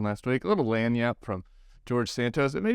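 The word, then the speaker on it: lagniappe: to my new culture I apparently pronounced it with a little too Frenchy not not enough Southern last week a little lanyap from George Santos it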